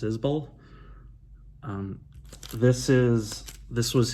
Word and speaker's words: Isbell: 2013's southeastern by jason isbell i've called him jason isbell for many years and i think it's pronounced izbull um this is this